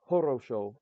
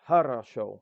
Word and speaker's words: хорошо: So, хорошо, but it's not horosho. It's not harasha. or horosho, it's harasho. You change midway through it, right? So just keep that in mind. Just because you see an O doesn't mean it's pronounced O.